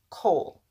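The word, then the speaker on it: כל: aunt under it but you're going to pronounce this Cole there's a reason why just trust me for now but Cole with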